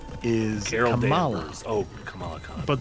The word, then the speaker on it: Kamala: Oh, Kamala Khan. But the former vice president was Kamala. Kamala. Yeah. Two, very similar but different Yeah. emphases.